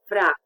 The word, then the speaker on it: vrea: So we have ya in words such as vrea, she wants, or mea. I think we learned the possessive adjective, mama mea, my mother. And it's pronounced a little bit like the Y, the EA in ya, YEA in ya.